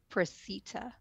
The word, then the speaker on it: Preseta: a at the end so preset a but pronounced preceta like you see me so you can find